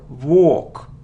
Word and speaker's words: walk: second syllable Museum museum it isn't Volk not it isn't work it's a long sound or or without L walk walk it isn't Maskull no